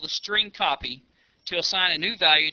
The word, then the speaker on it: strcpy: of functions available to the program including the string copy function to demonstrate the use of the string